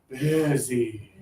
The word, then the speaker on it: busy: For a lot of students, they say, "Nick, I don't hear that. Busy, busy, busy, busy." Same thing. It's not. But in many languages, the I sound doesn't exist. So it's difficult to hear it. But if you think about your tongue down low, your low tongue, you're doing it right.